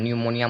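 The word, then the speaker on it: pneumonia: उसे जो है न्यूमोनियम निमोनिया मतलब होता है न्यू निमोनिया ठीक है तो यहां पे पी का कोई भी साउंड नहीं आया है पी का कोई भी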